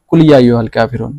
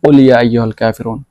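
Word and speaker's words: قُلْ يَا أَيُّهَا الْكَافِرُونَ: পারবেন না, তারাই বলবেন কুল ইয়া আইয়ুহাল কাফিরুন। তো এটা হবে মারাত্মক ভুল। এটা হচ্ছে কফ, শুদ্ধভাবে উচ্চারণ করবেন, কুল ইয়া আইয়ুহাল কাফিরুন, ঠিক আছে।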